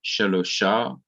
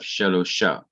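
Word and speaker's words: שלושה: then you have sh then you have the vowel kamas which is our long r so we have shalosha and you have hey our h which completes the word so you have shalosha so notice if a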